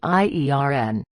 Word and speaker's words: iron: Answer: the correct pronunciation of iron is iern.